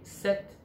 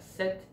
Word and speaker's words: sept: Tính từ chỉ số 7, set, khi đứng ở hàng đơn vị của một số thì đọc là set, tức là không phát âm âm p và phát âm âm t.